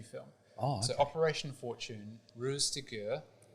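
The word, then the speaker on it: Ruse de Guerre: oh so operation Fortune Rose to gur I believe it's pronounced this was a film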